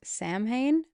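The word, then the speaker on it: Samhain: Halloween has its origins in the ancient Celtic festival of I'm going to say this wrong. Sam Hayne. It's spelled S A M H A I N.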